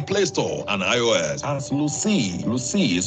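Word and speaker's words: Luscii: COVID Connect service is available on Play Store and iOS as Lucy. Lucy is spelled L-U-S-C-I-I.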